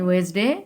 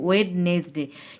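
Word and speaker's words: Wednesday: তারপরে টুয়েসডে আমাদের দেয়া আছে, টুয়েসডের পরে আমরা জানি ওয়েসডে, এটার উচ্চারণ করবে ওয়েসডে। ওই যে WEDNESDY লেখার সময় কিন্তু ওয়েডনেসডে, কিন্তু আমরা পুরোটা যখন উচ্চারণ করব তখন বলবো ওয়েসডে।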